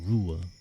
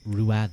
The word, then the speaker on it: Ruad: call you exactly ruer you should call me by ruer Rua ruer I know some people will be like ruad R Ru gusta yeah